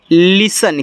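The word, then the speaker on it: listen: एस टी इ एन देखो इसको पढ़ना है लिसन क्या पढ़ना है लिसन पढ़ना है यहां पे टी आपका साइलेंट होता है तो ऐसे लिन एस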